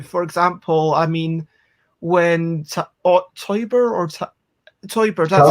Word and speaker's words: Teuber: For example, I mean, when Teuber, that's how you pronounce it.